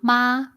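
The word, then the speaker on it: 妈: Um uh Nina, the first word will be ma. Okay. So it's ma. Yeah. And that we call the first tone or the uh singing tone.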